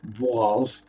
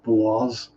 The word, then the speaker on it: Boise: I know of Boise, Idaho, or Boise, if you pronounce it correctly.